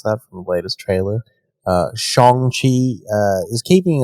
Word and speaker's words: Shang-Chi: while Shang-Chi, and I just learned how to pronounce that from the latest trailer, Shang-Chi is keeping its date with a shortened theatrical